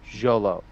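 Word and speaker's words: Xolo: a fan asked him at ComiCon how to pronounce his name and he said Jolo cuz it's like x o something yeah Jolo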